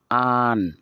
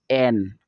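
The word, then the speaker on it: an: আপনারা দেখে নেন, আ, আন, নট এন। আমরা এ এন বলি, এটা এ এন না, এটা হবে আ, আন, আ, আন।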